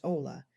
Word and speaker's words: hola: When you meet someone you simply say hola which means hello. Notice the h in Spanish is silent. So it's pronounced ola.